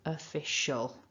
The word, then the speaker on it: official: standard let's say then aim for the schwa so official official fantastic so that's two